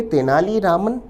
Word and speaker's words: तेनाली रामन: वन डे तेनाली रामन और या फिर तेनाली रामा शब्द को कहीं रामा कहीं रामन करके उच्चारित किया जाता है।